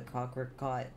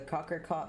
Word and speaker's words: cocricot: 1.12.2 mod with the cockroach i keep saying it wrong but why it's right but i keep trying struggling to say it the cocker caught mod um implemented because